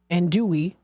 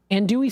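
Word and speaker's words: andouille: they have Uli and andoy andoy sausage I think it's how it's pronounced andoy sausage fresh fruit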